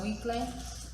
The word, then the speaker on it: muicle: It says muicle, but it's pronounced muicle in Spanish.